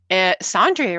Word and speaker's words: Sandri: Sandri rhymes with laundry.